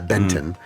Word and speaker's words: Benton: Not Ben 10, although it's spelled the same way, but yeah, Benton.